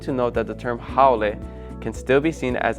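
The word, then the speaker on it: haole: in Hawaiian culture the term how pronounced howy which that's wrong it's how generally refers to someone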